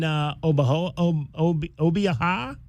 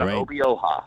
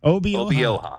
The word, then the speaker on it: Obioa: Uh, but you've got the big man obviously there, Harlon Obia. Did I pronounce that? Obioa. Obioa.